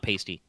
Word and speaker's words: pasty: And it's pronounced pasty, not pasty.